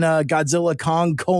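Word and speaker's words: Godzilla x Kong: I have did you know that the X is silent in Godzilla Kong: The New Empire?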